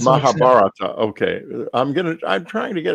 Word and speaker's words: Mahabharata: Back to the Mahabharata. Yes? No. Mahabharata, but it's Mahabharata. Okay. I'm trying to get it right. I want to get it right. Mahabharata.